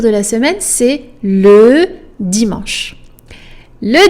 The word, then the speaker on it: dimanche: Dimanche. Never dimanche. No, please don't say that. Don't pronounce the E's at the end in French, guys.